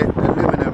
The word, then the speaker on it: aluminium: That's how the British pronounce correctly aluminium.